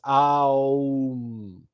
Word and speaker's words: AUM: next we have AUM now the o is implicit right we don't have to spell it out because I'll you can't say um without automatically saying oh so it's um those are the vowel